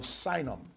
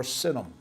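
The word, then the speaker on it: Sinim: and these from the land of sinum or cinam either way is a proper and accepted pronunciation now again some of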